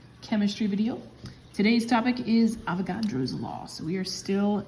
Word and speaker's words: Avogadro: back to another chemistry video today's topic is avagadro's law so we are still in the gas laws and this is the third one we had Bo's law Charles law and today avagadro's law this is spelled a v o g